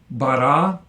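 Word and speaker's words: בָּרָא: Call perfect, 3ms from Beit Resh Aleph, and you'll notice the comets under the Resh because the Aleph is silent, so once again we have compensatory lengthening of the Patach to the comets.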